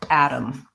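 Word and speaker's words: atom: and the particle the Adam so in American English yes we use a flap on both of these so a flap T sounds basically like a light D I'm not saying add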